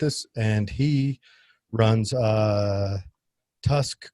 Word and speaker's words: TUSC: and he runs a tusk coin is that how you say it we just say tusk which stands for the